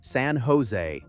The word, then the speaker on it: San Jose: For pronunciation, San Jose with Jensen Hang's keynote on March 16th.